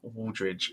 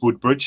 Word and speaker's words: Wooldridge: first of all, I got your name wrong last week. Yeah, no, you did. I thought it was a deliberate thing because there's a chap who will remain nameless who constantly calls me Woodbridge.